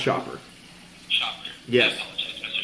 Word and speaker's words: Schaper: Yeah, it's pronounced Schaper.